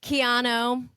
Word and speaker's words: Quijano: Kicking off 2025, I have my first guest of the year of season 3, Quijano.